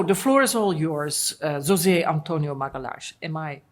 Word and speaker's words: José Antonio Magalhães: So the floor is all yours, José Antonio Magalhaes. Am I pronouncing this correct? Yeah, José Antonio Magalhães.